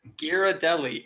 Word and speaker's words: Ghirardelli: Ghirardelli. It is not something that you have to like stumble over for the first syllable.